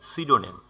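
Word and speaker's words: pseudonym: অপদার্থ অর্থলেস মানে হচ্ছে মূল্যহীন অপদার্থ বা অর্থহীন সিডোনেম সিডোনেম পি এসই ইউ ডি ও এন ওয়াই সিডোনেম এর সঠিক উচ্চারণ হবে সিডোনেম সিডোনেম মানে হচ্ছে ছদ্দনাম বা বেনাম সিডোনাম মানে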